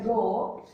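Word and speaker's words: rho: resistivity so row R ho o it is pronounced as row row = R into a upon n okay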